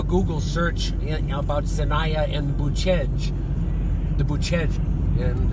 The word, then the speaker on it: Bucegi: search about Sinaya and Boo-chej, the Bucegi, and it's spelled Bucegi to an American who might be reading it, but here it's pronounced Boo-chej.